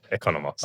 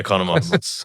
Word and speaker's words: Economos: Economos. Yeah, it's good enough. How do you say it? Economos. Okay. Economos.